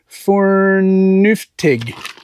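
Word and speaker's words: FÖRNUFTIG: Okay, it is an IKEA item, so I can't pronounce the name. Can you? It's Fornuftig.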